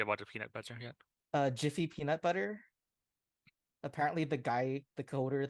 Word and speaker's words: GIF: Jiffy peanut butter.